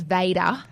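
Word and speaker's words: Vaydah: Vader. V-A-Y-D-A-H. Is that like Darth Vader? Vader? Well, it's spelt differently. This is V-A-Y-D-A-H, so it's Vader.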